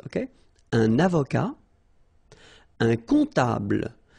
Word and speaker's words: comptable: Un comptable, so OM, remember, it goes like on, alright? And then, strangely, this P is not pronounced.